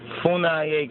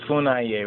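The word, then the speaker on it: Funnye: So here, Funaye campers, okay, you see right there? Capers Funaye, right? Or Capers Funye, I think Funye, excuse me, Funye, right? Capers C. Funye Jr., pronounced Funay, born in 1952.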